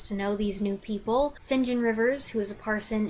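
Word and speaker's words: St John: some point what's with the name saint john pronounced sinjin why do they say it that way i don't know it's a british thing i have tried to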